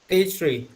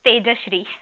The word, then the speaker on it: Tejashri: Tejshri. Tejashri, I don't know. I have pronounced right. Yeah, it's Tejashri.